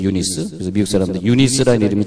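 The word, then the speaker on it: Eunice: 그리고 할머니 로이스, 이제 로이스는 이제 미국 발음하고 같은데, 유니게는 윤이 그러잖아. 윤이 혹은 윤이, 윤희 이렇게 이름을 지면은 그것을 미국 이름을 좀 바꿀 수 있어요. 유니게. 근데 뭐냐면 유니스거든요. 유니스.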